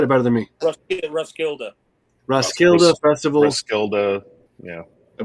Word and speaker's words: Roskilde: David, pronounce that again. Roskilde. You said it better than me. Roskilde.